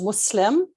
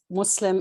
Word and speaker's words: Muslim: very derogatory um and it's not with a z it is muslim you know some people